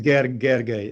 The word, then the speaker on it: Gergely: you pronounce it it's G gay l y in Hungarian is J basically so it's a it's